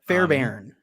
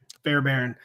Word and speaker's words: Fairbairn: Fairbairn. Fairbairn.